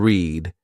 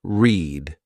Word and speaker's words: read: Read and read have the same spelling but different meanings as well as pronunciations. Read is pronounced as read, which is in present tense, while read is pronounced as read, which is in the past tense.